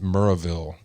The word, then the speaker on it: Maryville: town in Tennessee called it was spelled Maryville but it was pronounced Murrayville it's just a colloquialism